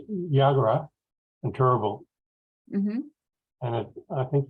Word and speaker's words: Yagara: I think the common pronunciation is Yagara. Yagara.